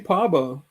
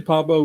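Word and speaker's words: Pääbo: Oh, Franci Parbo. Yeah, how do you spell that?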